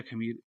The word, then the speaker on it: Khmer: पूछा जा चुका है, खेमर वंश से ये संबंधित था। खेमर या खमीर, ऐसा KHMER, ऐसा कुछ उसकी स्पेलिंग है। तो खेमर बोलते हैं, कई जगह खमीर भी लिखा हुआ है।